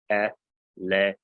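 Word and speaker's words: ἐλέησον: Next word, eleison. Eleison. Have mercy. Yeah, the accent on the Epsilon there.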